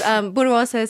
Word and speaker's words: Borås: Yes, Borås it's a difficult name to pronounce.